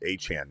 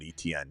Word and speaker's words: Etienne: to keep telling people my name's A-Chane, not ETN. It's pronounced A-Chane.